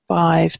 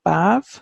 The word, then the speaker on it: Badbh: So Macha we've mentioned up in Ulster, and we have Bive then, and you might hear that pronounced as Bav sometimes, but Badbh is the modern Irish version of it, and it's very similar to the name Sive, which is the same but just with an S instead of a B. So that's why I pronounce it Bive, because that's how it reads to me.